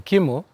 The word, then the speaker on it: Kimmel: He's supposed to get on Jimmy Kimmel that same time that we were supposed to go live with him. They were supposed to record. Umepronounce jina vizuri, Kimmel.